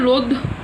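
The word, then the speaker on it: ρ: তো রো into L/a, যেখানে রো হলো সমানুপাতিক ধ্রুবক, উচ্চারণটা কি? রো।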